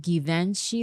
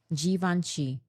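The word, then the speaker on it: Givenchy: G veni gveni gi not hard g it's French I took like five classes of French and I don't remember anything.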